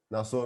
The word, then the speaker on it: Nassor: Pô, cara, a primeira coisa, te perguntar, como é que pronuncia direito o seu nome, cara? Nassor, né? Que tem uma galera que fica assim, Uhum. pô, eu acho muito bacana, né, na verdade, tipo, Nasso. Nassor, Não, como é é que é?